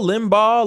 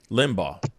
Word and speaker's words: Limbaugh: it is you know what i mean russ limbo's gone limbo limbo limbaugh limbaugh you know i don't even know how to pronounce his last name properly but i feel